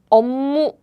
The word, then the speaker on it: 업무: So to pronounce it easily, this air blocking sounds becomes the nasal sound like 업무. So this is how Korean people pronounce it very naturally.